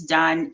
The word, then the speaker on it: Dunn: getting it done that's getting it done and done is spelled by my last name d-u-n-n um so i look